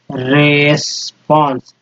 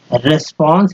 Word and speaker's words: response: Performance this रेस्पॉन्स, रेस्पॉन्स या रिस्पॉन्स, दोस्तों रिस्पॉन्स बोलना है, रिस्पॉन्स seats will be मिनटली, मिनटली checked by our teachers.